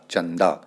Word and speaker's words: चंदा: पंचम अक्षर नौ है तो इसलिए द से पहले अनुस्वार लगा है तो इसका उच्चारण होगा चंदा इसी तरीके से संतरा